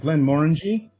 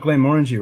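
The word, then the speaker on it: Glenmorangie: harvin correctly it was close when i said glenn moringe i think she got glenn orangey right trying to remember now dj cue ball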